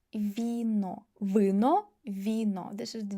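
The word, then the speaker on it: вино: But we have i so v should be soft. vino vino vino This is the difference.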